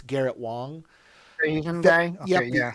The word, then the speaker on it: Wang: It says Wang. I think it's pronounced Wong. It's Garrett Wong.